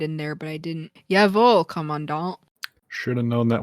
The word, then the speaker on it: Jawohl: Side note, upon further inspection and research, it is pronounced Yavol. Jawohl. Jawohl. Damn, Whoops. I should have put a pronunciation guide in there, but I didn't. Jawohl, Commandant.